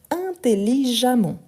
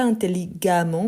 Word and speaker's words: intelligemment: et on ajoute donc intelligemment intelligemment une fois de plus je vous rappelle que les e avant les double m il y a le son de a intelligemment ok on ne dit pas intelligamment mais intelligment ok voilà